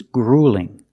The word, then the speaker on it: grueling: a marathon is grueling also notice with the u l we don't say o it's not gring it's grueling use the long o plus the light L GR in it's grueling it's horrible now